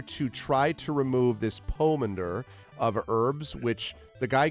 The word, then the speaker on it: pomander: The pronunciation of Pomander has long O. Pomander.